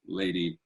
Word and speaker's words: LVDY: Kathleen and Aubrey make up Lady, which is a Colorado-based indie folk duo known as Lady, LVDY, but pronounced Lady.